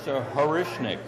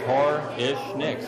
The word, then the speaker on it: Horishnik: The name is Horishnik, or if you break it down, it's Hor-ish-nicks.